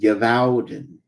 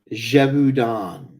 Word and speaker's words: Gévaudan: Now, one of the characters from the board game was Givorden, the werewolf, which is also a mispronunciation of the actual name. Can anybody guess what Givorden is properly pronounced as? Givorden? I don't know. Gévaudan.